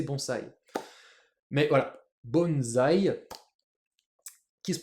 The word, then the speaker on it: bonsai: un pot là nous on appelle ça un bonzaï mais en japonais c'est bons bons et ouais donc ce qu'on appelle un